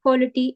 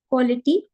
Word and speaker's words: quality: It's not quality, although the spelling of quality is this, which is why we often mispronounce it as quality. It's not quality, it's quality. The schwa sound.